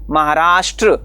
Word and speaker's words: महाराष्ट्र: अ लग जाता है इसलिए जब हम महाराष्ट्र शब्द लिखते हैं महाराष्ट्र तो वहां पर श ट र यह तीनों आ जाते हैं और इसलिए वहां पे हम जब स्पेलिंग लिखेंगे उसका इंग्लिश में तो एम ए एच ए आर ए एस एच टी आर ए लगाते हैं यानी हम उसका उच्चारण करते समय भी महाराष्ट्र ऐसा करते हैं उसी प्रकार से अन्य